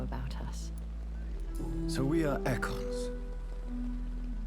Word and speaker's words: Ekon: Okay, so it's pronounced Ekon, not Econ.